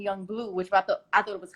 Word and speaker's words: Yung Bleu: And it said Young Blue, but it was spelled like Bleu, you know what I'm saying?